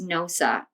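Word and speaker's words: Gnosa: But the collective symbol that we're working with is NOSA, and it's spelled G-N-O-S-A if anyone wants to Google it.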